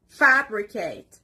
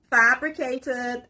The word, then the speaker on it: fabricate: next word is fabricate the stress is on the first part fabricate it means to invent in order to deceive for example officers fabricated evidence let's continue with